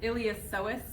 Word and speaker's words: iliopsoas: spell it but it iliopsoas the P is silent so I recommend saying